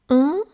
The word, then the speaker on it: on: On is a nasal sound that you pronounce almost like a O shape with your lips.